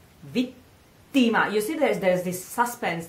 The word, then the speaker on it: vittima: So now we have vittima. Careful with the pronunciation of the E, because it's very straight, you know? It's not E, vittima. It's not this kind of E.